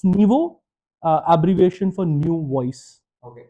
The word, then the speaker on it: Nyvo: So it's pronounced as Naivo.